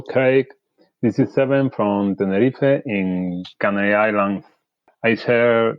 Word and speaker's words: Tenerife: Islands, all the way from Tenerife, or Tenerife, as you say in Spanish. Zebin from Tenerife has sent this message. Hello, Reza. Hello, Craig. This is Seven from Tenerife in Canary Islands.